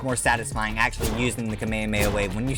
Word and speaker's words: Kamehameha: They'll they'll call it the Kamaya wave or something, but it's technically listed the name is Kamehameha wave and when you when you use the attack it's Kamha.